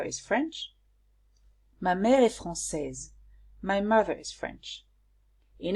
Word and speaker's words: française: So français, or française here is the adjective, and here I added a E and I pronounce it differently, française, because it relates to my mother, which is feminine.